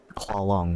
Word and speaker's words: Clong: with the princess uh clong which is dod's body's actual name and is not pronounced how long no matter how many times you guys accidentally or purposely say it and we' never do